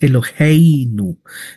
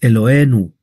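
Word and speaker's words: אלוהינו: Cuando se dice elinu, no es elinu, es eloenu.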